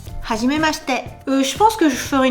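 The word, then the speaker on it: はじめまして: Le i ne se prononce pas. Hajim mchet. Hajim mchet.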